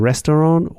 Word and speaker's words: Restaurant: You see, for restaurant, we use the French pronunciation.